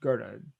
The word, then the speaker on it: Goethe: Johann Wolfgang von Goethe, which, by the way, everyone is spelled Goethe. Looks like Goethe, but it's pronounced Goethe, German.